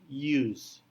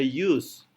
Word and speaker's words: use: i-nya itu menjadi y kemudian ada use bukan Us bukan use tetapi use walaupun dimulai dengan huruf u pengucapannya seolah-olah dengan menambahkan Y di depannya use dan konsonan approximent terakhir